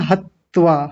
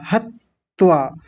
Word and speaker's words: हत्वा: जबकि बोला कैसे जाएगा? ध्यान दीजिए। हत्वा हत व्वा बस हतवा एक त आएगा। कई लोगों के उच्चारण में ऐसा महसूस हो रहा है जैसे दो त बोल रहे हो। हत त्वा यानी एक त ह के साथ जुड़ गया। एक त व के साथ जुड़ गया है। हत्त्वा दो त जैसे लग रहे हैं। बोलेंगे क्या? हत्वा हत्वा बस इतना हतवा हतत्वा ऐसा नहीं करेंगे यानी दो त जैसा